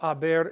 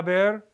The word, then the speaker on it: haber: The H is silent, so you have a V and you have 1, 2, 3 A's in a row. And then you have bear. You know, when you pronounce that word, it's just 2 syllables, ba bear.